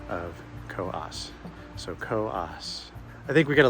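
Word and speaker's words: Coös: I finally do know that it actually is pronounced Co-Os Trail, because I read a history book and it included the proper pronunciation of Co-Os. So Co-Os.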